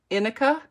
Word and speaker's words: Inika: Last syllable would be ka. Inika, like that, Inika.